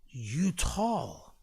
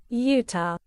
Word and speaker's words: Utah: Plan B out in Utah, like YOUTAWL. Honestly, bro, that has to be brain damage, man. Someone needs to ask him about, like, why do you add letters to something? Like, how could you pronounce Utah like that when it's meant to sound like this? Utah.